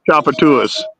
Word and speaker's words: Tchoupitoulas: You don't pronounce the L. Chopatoodles. It's a street in New Orleans, Chappatua Street. Oh yeah, I think we saw it. Yeah, but it doesn't sound like that. It's spelled like TCHOUPITOULAS or something like that. Oh, you nailed it. You nailed it. But ding, ding, ding, ding, ding, ding. You got it. Okay. Yep. It's pronounced Chapatuas. Yeah.